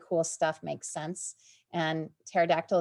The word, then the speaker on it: pterodactyl: stuff makes sense and pterodactyl is not a weird word with a silent p it actually makes sense because it has this connection of meaning so kind of stepping